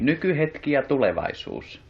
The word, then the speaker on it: Nykyhetki ja tulevaisuus: Did you pronounce it like this? Read it to me. Nykyhetki ja tulevaisuus.